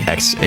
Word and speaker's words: Xatu: Or some people pronounce it Xatu, but I think that sounds really silly. X-A-T-U.